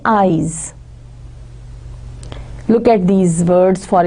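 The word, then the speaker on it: -ize: Most of the times it is done by using the suffix IZE, जिसको pronounce करेंगे eyes.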